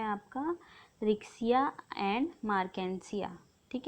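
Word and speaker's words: Marchantia: ठीक है, लिवरवर्ट्स में आता है आपका रिक्सिया एंड मार्केंसिया। ठीक है, आप मार्केंटिया इस तरीके से प्रोनाउंस कर सकते हैं।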